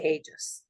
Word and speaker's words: Aegis: Anyway, from the law firm of Is it Aegis or Aegis Law? We say Aegis.